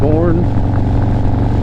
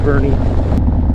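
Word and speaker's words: Boerne: Longest time I was pronouncing this town Bourne because it's spelled B-O-E-R-N-E, so you would think Bourne, right? But it's actually pronounced Bernie.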